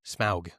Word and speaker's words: Smaug: Smaug. S M A U G, the dragon. Smaug. Smooge.